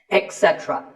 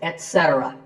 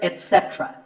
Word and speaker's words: etc.: A very common incorrect pronunciation is to say etc. instead of et. Don't say that. And also remember that the stress is on se. So the word is etc. You will also hear etc. That is less common, but it's okay too.